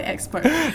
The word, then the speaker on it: AdXpert: Okay, so our agency is spelled as AdXpert. So it's like we call it expert.